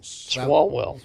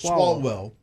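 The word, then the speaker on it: Swalwell: Sal Swallwell. Swallwell.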